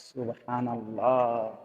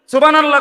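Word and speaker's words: سبحان الله: তো সুবহানাল্লাহ কইয়া যে থামিয়া গেলেন, তো লামের মধ্যে থামিয়া গেছেন, তো আল্লাহ শেষে যে আরেকটা গোল হা আছে, এটা কই? সুবহানাল্লাহ সুবহানাল্লাহ সুবহানাল্লাহ, তো হা উচ্চারণ কই? শেষের হাটা কই?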